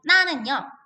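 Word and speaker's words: 哪: 발음을 할 때 나, 라고 삼성어로 발음을 하고요.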